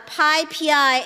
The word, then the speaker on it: PyPI: It is pi pi, not pi pi, not pp. Some Americans say pp and it really makes me upset. So uh Pippi is the correct way to pronounce it.